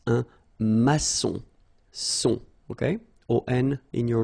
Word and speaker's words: maçon: Here you can see that we've got this little cédille beneath the C, okay? And it just means that you will pronounce this C as S, okay? So that's the reason why. It's un maçon.